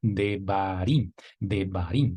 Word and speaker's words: Devarim: B en español, la Resh, que es como la R en español, la Yod, que hace la vez de I en español, y también, por último, la Mem, como la M en español, para pronunciar la palabra Devarim, que traduce palabras.